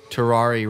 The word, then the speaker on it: Terraria: Terraria rhymes with safari, right?